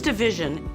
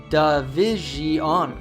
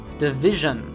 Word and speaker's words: division: last syllable the news division the news division many learners will actually pronounce davion which is incorrect instead you should simply make a schwa sound for the vowels in the last syllable division the news division is